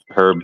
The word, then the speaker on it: herb: it's not I it's herb for sure there's an H it's a Italian herb and cheese it sounds you you say it with an H yeah yep herb do you get [